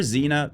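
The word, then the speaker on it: Xena: for last, and it's from a series that rhymes with Sabrina, so that's convenient. Give it up for Zena Warrior Princess.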